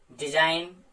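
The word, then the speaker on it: design: Rule मैं बता चुका हूं आपको, अगर जी के बाद एन आएगा तो उस कंडीशन में जी नहीं बोला जाएगा।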